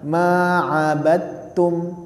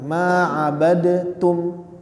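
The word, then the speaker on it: ما عبدتم: jadi karena makhrajnya sama huruf dalnya itu yang sukun dihilangkan jadi kita membacanya Ma abadum langsung ke huruf ta-nya ya langsung ke huruf t-nya karena huruf dal dan huruf ta itu makhrajnya sama sehingga kita ucapkan maadum jangan ma abadum lah ma abadum ya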